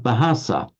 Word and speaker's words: bahasa: taken over in Malay the malays were highly conscious that it had to be an aspirated bur but the malaise equally were incapable because of the phonetics of their own language of pronouncing a ba and that's why that's why you get um they pronounce it bahasa so for instance um